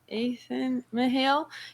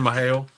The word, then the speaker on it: Mahale: You're Mahale. You're no glove, no love Mahale. Heard it straight from the Mahale. The A is silent. It's just Mahale.